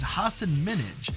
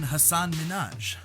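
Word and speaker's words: Hasan Minhaj: seconds into the interview he pronounced it as hassan minaj rather than hassan minaj prompting him to correct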